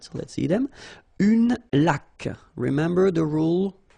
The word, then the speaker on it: laque: Une laque. Remember the rule? When you get this QU, well, U is not pronounced, so you get k, like that.